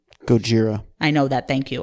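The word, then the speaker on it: ゴジラ: alright you in Japanese his name is pronounced koji Gojira I know that thank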